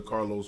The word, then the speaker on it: Carl: You know, everybody be like, hey, Carlos. Hey, Carlos. I'm like, wait a minute, my name Carl. My name come first. Right. You know, but them two syllables, Carlos, they would always say.